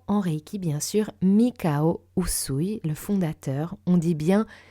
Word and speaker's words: Usui: C'est la même chose pour Usui et Uzui. Donc retenez bien Usui.